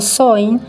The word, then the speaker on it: Samhain: Samaín, pronunciado Soin, es la palabra del gaélico